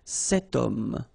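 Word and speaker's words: homme: got this Ash letter remember Ash is not pronounced okay so you've got the sound of O at the beginning of this word okay setum so that's the reason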